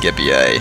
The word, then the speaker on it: Scipii: My opponent is playing as the Scipii Romans, or as my Latin book says, and I don't like the way it sounds, but so far as they know it was actually pronounced Scipii.